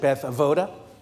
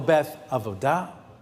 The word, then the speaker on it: Beth Avodah: you've been with us you might pronounce it Beth avoda that typically means you've been around for a while Temple Beth of UDA TBA no matter what